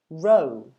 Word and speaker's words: row: you should know that we pronounce the first word ro so the couple in the front row yeah and had a